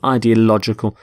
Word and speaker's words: ideological: the adjective ideological ideological the stress is on lodge in the middle ideological so the world is